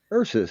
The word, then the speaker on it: Ursus: he's at right now how do you pronounce his name UR ursus so I was right yeah yeah I guess